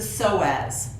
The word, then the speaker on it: psoas: There's a muscle that's also very related to this emotional health, and it's the psoas. You spell that P-S-O-A-S, the psoas muscle.